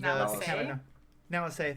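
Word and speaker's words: Nala Se: But so, and I will say I did like the little bit at the end of, God, I can never pronounce her name. Nalase, thank you.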